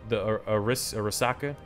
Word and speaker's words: Arisaka: I'm actually enjoying the Arisaka. That's how you pronounce it.